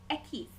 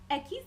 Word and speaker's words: equis: want to say erre the next letter that we are going to discuss is ekis ekis being X Equis can make the English X